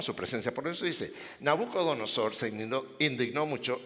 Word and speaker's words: Nabucodonosor: Osor, Nabucodonosor. Va a tocar que Hania me pongas un letrero aquí, así se pronuncia.